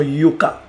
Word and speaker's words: Yoka: Je vous mets en supplément le prénom Yoka, qui en lingala se prononce Yoka, qui veut dire écoute.